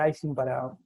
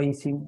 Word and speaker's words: Ising: El modelo de Ising o Ising, depende de cómo lo quieran pronunciar, es bastante simple, no